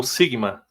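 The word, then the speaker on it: σίγμα: o próximo é o Sigma Sigma som de s isso né Nós temos o eh dois tipos de Sigma aí né Nós temos o Sigma aí do Futuro que é o maiúsculo né e tem o minúsculo S então nós temos aí o o o Sigma então Eh por exemplo o o som de s né Sigma de sapo né Uhum Então Sigma som de s sapo ele tem dois formatos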